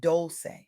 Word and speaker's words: Dolce: I'm your host, Dolce, pronounced doulce, like sweet softness whispered in French, and I'm your guide